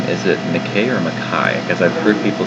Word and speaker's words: Mackay: in the future, and I'll make sure in person that I don't say McKay. Well, that's what the Australian town is called, so I should be able to remember it. And that's how it's pronounced.